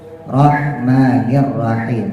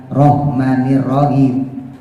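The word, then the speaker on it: الرحمن الرحيم: pakai h gede rahmanirrahim kan Rahman kan H kecil ya H tipis rahmanirrahim bukan rahmanirahim kalau rahim rahim itu H gede ya saya pakai h gede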